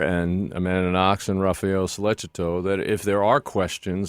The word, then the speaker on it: Sollecito: The Meredith's family, as well as the other families, the Knox family and Sollecito, is it the pronunciation? Sollecito.